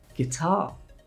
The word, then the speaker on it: guitar: Guitar, the G sounds like a hard G.